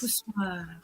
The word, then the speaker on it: poussoir: Poussoir. But you have to say it like that in a French way.